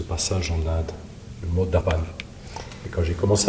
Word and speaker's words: Darpan: On va partir en aventure ce soir, une aventure intérieure avec Darpan. Ça s'écrit D-A-R-P-A-N, ça se prononce Darpan.